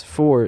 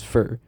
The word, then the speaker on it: for: this is for that notice how in the first sentence four is said with a long o compared to the second sentence where it's pronounced as fur in the first sentence the strong form of for was used and the second sentence the weak form was used using a strong form